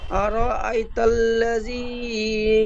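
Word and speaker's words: أرأيت الذي: হা খর জবর হা, আরাআইতাল্লাযী ইয়ানহা। বানান করবার সময় যতবার শুরু থেকে পড়েছেন আর আই, ঠিক এমন ভাবে হামজাটি একটু টান হয়ে গিয়েছে, হামজা টান হবে না, হামজা জলদি পড়তে হবে।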